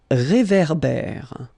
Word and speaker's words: réverbère: So here you've got this accent aigu, et, and then here you've got this accent grave, é. Okay, et, é. So it goes like réverbère. Okay, un réverbère.